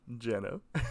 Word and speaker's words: Jeno: donghae's new sound featuring some NCT love from Jenna that's how it's pronounced and uh yeah anyway we'll see you